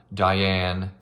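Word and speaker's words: Daiyan: Luckily, our 2 main characters, Diane, a man, which is spelled D-A-I-Y-A-N, and the poet I mentioned before,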